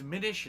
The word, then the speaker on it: Minish: played it I have no idea how you pronounce it Minish it's Minish not Minish Minish isn't diminished okay so Minish